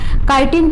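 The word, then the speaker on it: chitin: किसकी बनी होती है, काइटिन की। बहुत लोग इसको चितिन भी पढ़ते हैं, तो आप दोनों ही चीज़ें जो भी आपको प्रोनाउंसिएशन हो आप देख सकते हो।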